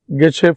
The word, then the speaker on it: gauche: I told it's Gechu form, but you can pronounce it Geche form.